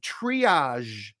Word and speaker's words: triage: It has that voiced SH sound at the end. Zh. The reason I say it's a voiced SH is because this is an SH. Shh. But if you add voicing to it, it becomes zh.